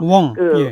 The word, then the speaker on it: 웡: 웡. 예. 황자를 홍콩 발음으로 웡이라고 합니다. 예.